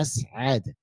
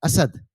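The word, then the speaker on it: أسعد: देखिए यहाँ पर असअद बीच में थ्री है, यानी आइन है, तो ये आपको प्रोनाउंस बराबर करना है, असअद, असअद, ऐसा आपको प्रोनाउंस करना है, ठीक है? क्योंकि अगर आपने वो आइन को प्रोनाउंस नहीं किया, आपने कहा असद, अगर आपने असद कहा तो असद का मतलब होता है शेर।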